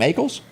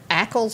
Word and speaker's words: Ackles: him jensen and i can how do you pronounce that last name eagles ackles or ankles yeah yep he was born in 78 but